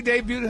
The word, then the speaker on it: debuted: She debuted her um new hair, baby. And she embracing she debuted her debut. That's a That's a silent T, man.